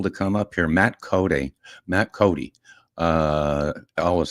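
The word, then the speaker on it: Coday: Matt Cody. Matt Cody. Uh, I always say spelled C O D A Y and pronounced Cody like Wild Bill Cody.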